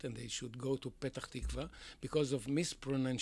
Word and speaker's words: Petach Tikva: they should go to Petach Tikva because of miss Perrone and she is pronunciation because the arabic UNS cannot say pay so they say better tikva and instead of being